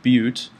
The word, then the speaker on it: but: Okay, it's spelled butt, but it's spelled bute, or it's pronounced bute.